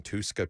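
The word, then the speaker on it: Touska: Is that what you'd call it, Tuska? I would say that's the pronunciation, yeah.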